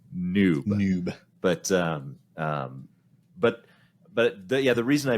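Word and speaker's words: n00b: From what I understand, that is pronounced noob.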